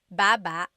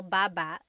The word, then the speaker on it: baba: could be ba chin baba. Emphasis is on the first syllable. Baba. Then there's babba baba. Emphasis is on the second syllable syllable. That means to go down. Baba, like going down an elevator.